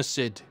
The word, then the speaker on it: Lunacid: ] lung acid luna we're gonna pronounce it luna lunacid intros suck man it's